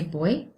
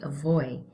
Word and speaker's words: voy: Now you may have noticed I pronounced those with a B sound, even though it is a V that you see. In Spanish, they can actually be pronounced either way. It's okay to say boy, it's okay to say voy. I will say it is more common, slightly more common, to hear it with the B sound instead.